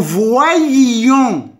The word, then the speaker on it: voyions: Nous voyions. هاد إي كننطقها. Nous voyions. Nous voyions. Nous voyions. هاد إيكغيك كتنطق إي و أو مع إي كتولي فوا كنقراها كاملة فوا اللي كنزيد إيون.